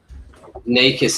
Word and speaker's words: Nikas: Nikas is how you pronounce Nikas. it, like eyes and E.